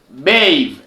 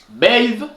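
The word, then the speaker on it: Beehive: Troisième application de micro-tâches, Bave. Bave, écrivez seulement comme moi je prononce.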